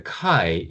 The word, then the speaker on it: chi: answer is we introduce what is called a kai square test. The kai is actually the Greek letter uh which is kind of looks like an X.